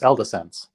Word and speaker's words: Eldesense: I would believe Sean, that, but we actually asked Eldesense how he wanted his name pronounced, and he told us Eldesense.